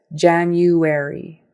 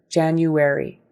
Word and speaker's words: January: Poise poised and then January January that view in there there's a y in front of it an invisible y but you have to say it January January and then February like